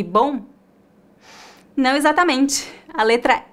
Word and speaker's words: bom: do m no final o mesmo acontece com a palavra bom é bom a letra O fica nasal e temos um leve ditongo bom bom não há o som do m no final agora eu tenho uma